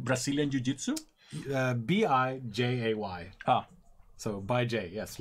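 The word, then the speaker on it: Bijay: I'm going to pronounce it Bye, Jay, because I'm not going to pronounce it the other way. Like Brazilian Jiu-Jitsu? B-I-J-A-Y. Ah. So, Bye, Jay.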